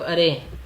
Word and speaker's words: array: रहा हूँ अरे अरे, एक्चुअली इसकी प्रोनाउंसिएशन अरे ही होती है। ऑल्दो सब लोग इसको एरे बोलते हैं बट हम इसकी प्रोनाउंसिएशन अरे एक्चुअली होती है, ठीक है। तो आप कुछ भी बोल सकते हैं, वो मैटर नहीं करता है।